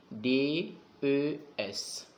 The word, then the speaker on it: des: des d donc on dit quoi d ça s'écrit d e s d e s et ça se prononce d